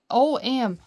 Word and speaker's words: Ogham: Augum pronounced oh o om o om right there. See we've been pronouncing it incorrectly the entire time is an alpha alphabet